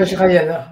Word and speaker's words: Vajrayana: Il nous fait découvrir l'intérieur du Vajrayana, si je le prononce bien, tu vas me le redire. Vajrayana, Vajrayana.